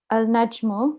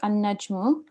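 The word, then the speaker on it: النجم: Al-najmu becomes an-najmu.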